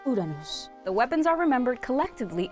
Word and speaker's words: Uranus: In this time, they also crafted 3 almighty weapons: Pluton, Poseidon, and I'm gonna go with the Japanese pronunciation here because we don't want to get demonetized, Uranus.